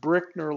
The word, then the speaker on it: Brickner: everybody by the way my last name is pronounced Brickner like bricks come on down here